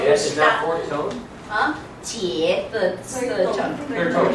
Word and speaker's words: 姐: 姐, the third tone.